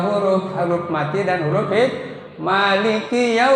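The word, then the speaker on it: مالك: ada di sini ya Maliki. Maknya mad thi. Maliki bukan Maliki. Maliki. Ki kap Maliki ya. Yang hebat ngucapin Maliki Prabowo Kap tuh. Dengerin kalau ngucapin. Kemudian ada satu lagi apa? Sby coba dengerin kalau ngucapin tapi bukan huruf Arab ya bisa gitu. Kalau ngedengar ada kira-kira kaf itu ada ka itu kedengaran kedengaran itu nah itu dia ma bukan promosi ya. Maliki yau harus lembut ya.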